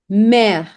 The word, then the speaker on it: mère: Mère, mère, mère.